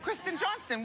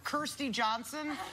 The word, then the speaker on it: Kristen Johnston: Kristen Johnston. What it do was people say? Kirstie Johnson. Kristen Johnson. They're stupid. Kirstie Alley. Stop. It's Kristen Johnston and she stars on The X's.